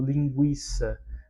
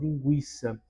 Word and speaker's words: linguiça: entendimento era de que quando havia o o trema, o U deveria ser pronunciado, né? Ah, por exemplo, quando nós falamos alguma alguma hã alguma palavra do tipo linguiça, veja que o u é pronunciado anteriormente a este acordo ortográfico. O U desta palavra ah, era pronunciado desta forma, linguiça.